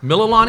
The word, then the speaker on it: Mililani: Mililani. Do you guys know how to pronounce it? Oh, Mililani? Mililani.